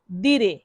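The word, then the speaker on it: dire: তো এটাকে ইতালিয়ান ভাষায় বলা হয় দিরে। ধীরে ধীরে দেখুন এখানে আমি ইংরেজিতে বানান করে লিখেছি ধীরে।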